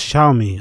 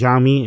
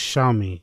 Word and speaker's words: Xiaomi: Oh, it's pronounced Xiaomi. I thought it was Xiaomi. It's pronounced Xiaomi over my head.